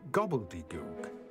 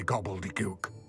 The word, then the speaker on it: gobbledygook: is an honor sir gobbledygo oh it's meant to be gobbledygook I am well yes perhaps my pronunciation was a bit off I imagine certain dialects